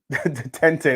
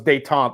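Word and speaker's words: Détente: i like called uh detente that's how that's how i know the pronunciation so it's de tomp not de tente all right let's get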